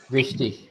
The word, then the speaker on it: wichtig: विश्टिश, विश्टिश कहते हैं इंपॉर्टेंट को, जरूरी, विश्टिश।